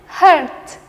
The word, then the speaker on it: hurt: Nah, sedangkan untuk rasa sakit kita pakai E dan akhiran T. Jadi kita bacanya hurt, hurt.